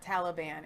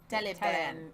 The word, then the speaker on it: Taliban: It's not Taliban. It's Taliban. Like you're going to sing a song.